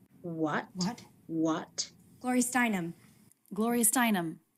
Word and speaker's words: Gloria Steinem: gloria steinem gloria steinem gloria steinem okay there's that name again we have a little bit of stress on the stress level of gloria but then more stress on the stressed syllable steinum glorious dynum there's no